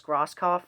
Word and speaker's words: Grosskopf: You have Marcus Grosskopf on the bass. Yes, I finally pronounced his last name right.